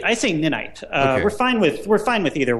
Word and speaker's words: Ninite: So now, how long did it take to complete Is it Ninite or Ninite? Oh, I say Ninite.